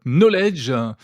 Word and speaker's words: Nolej: Vous dirigez la start-up Knowledge. Ça s'écrit N-O-L-E-J. On comprend qu'il y a un jeu de mots entre knowledge en anglais.